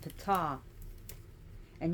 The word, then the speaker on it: Ptah: breathe the word of p and yes is pronounced PA not t this the p is not silent so P like you're spitting so it says that